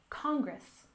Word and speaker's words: Congress: the first one is Congress we stress the first syllable Congress Congress this is a component